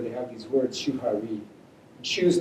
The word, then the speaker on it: shuhari: Shu's nice, rhymes with shoe.